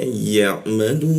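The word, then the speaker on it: يعملون: Kita panjangkan tiga ketukan. Kenapa? Karena seolah ada bendera. Karena di depannya itu ada huruf wau dan nun. Huruf vokal dan konsonan kita matikan. Maka seolah-olah muncul bendera. Jadi cara membacanya ya'malun.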